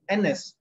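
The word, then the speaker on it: Agnes: In her father's will, a name, was pronounced or written A-G-N-E-S and pronounced N-S, silent G, N-S.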